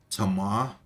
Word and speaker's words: Thomas: Tama? So the S is silent? Why would your parents do that to you, man? Why did they just not have the S there?